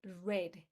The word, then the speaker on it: read: The past the pronunciation in past and in past participle is red. Red like the color red.